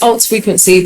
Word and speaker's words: ALT.FRQNC: Either or, it's the same. But what did you intend? I mean, it's ALT.FRQNC, but ALT is an abbreviation for alternative. So yeah, frequency again is spelt without the E's and U. So it's an abbreviation, but it means alternative frequency.